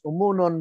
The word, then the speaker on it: Homonhon: Now, the name that is properly pronounced as Umunon means that this island abounded in Umu honeycombs.